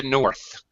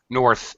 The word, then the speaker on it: north: In the north. North. It's Don't forget the th sound.